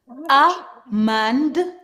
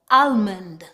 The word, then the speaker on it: almond: For example, amand, amand. With some accent, they actually pronounce the L, almond.